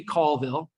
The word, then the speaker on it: Colville: Everyone said Colville? Did anyone say Colville? Be honest now. A couple of honest people in the room. It is actually Colville.